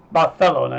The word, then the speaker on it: Barcelona: Barcelona is the correct pronunciation.